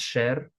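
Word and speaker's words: શહેર: It is spelled shaher but usually pronounced sher.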